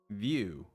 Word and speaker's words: Vue: Is it Vue? Wait. Vue. Vue. Yes. View. View. View. It's telling me view. I'll say it view now.